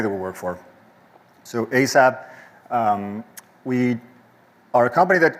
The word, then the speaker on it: ASAPP: It's called ASAPP. That's how we pronounce it.